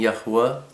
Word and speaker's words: Yahweh: you'll see me, uh saying Yahwa. That's always my way of pronouncing the father's name because, uh my jetu, my grandfather, taught me how to say that name.